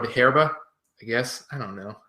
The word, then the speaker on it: Hierba: This is from Raul Peron, called Hierba, I guess. I don't know. I can't pronounce Spanish. I know number one that H isn't pronounced as an H, but fuck it.